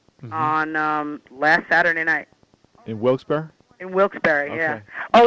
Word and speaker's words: Wilkes-Barre: The name of the town is pronounced Wilkes-Barre. It was founded by two people. We had no idea. You know what we were walking around calling it? Wilkes-Barre.